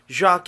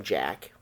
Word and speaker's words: Jacques: love with the sea Jacques is a French pronunciation his name in America we would have probably called him Jack Jacques fell in love